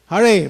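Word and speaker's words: Hare: it's har Krishna so haray first word must be must be pronounced properly haray and then Krishna everybody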